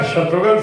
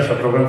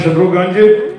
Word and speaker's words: शत्रुघ्न: प्रांत में अलग-अलग लोग आज भी कई बार मेरा नाम जैसे उच्चारण करते हैं मिसाल के तौर पर मेरे पंजाबी फ्रेंड्स जहां मिलते पूछते हैं की हाल है शत्रुगंज पहाड़गंज दरियागंज शत्रुगंज हमारे